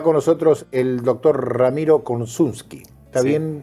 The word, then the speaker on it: Korsunsky: Está con nosotros el doctor Ramiro Konczynski. ¿Está bien pronunciado?